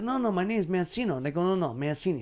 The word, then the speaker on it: Mancino: It used to be Mancino or Mancino. Right. Mancino, right. And it should be Mancini. Right. But that's the Italian way. You say it right. But my birth name is Mancino.